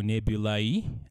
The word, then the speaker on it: Nebulae: You can search Nebula, that is spelled as Nebula, but with E in the end. So Nebulae, as in multiple nebulae.